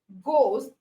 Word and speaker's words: ghost: the H is silent ghost the H is silent and then our no